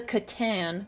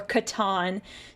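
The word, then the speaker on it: C'tan: create them this is called a Katan or Katon depending on how you want to pronounce it um basically what happens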